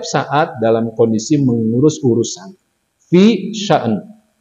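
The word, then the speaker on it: فِي شَأْنٍ: Fi sya'n. Bacanya begitu, fi sya'n.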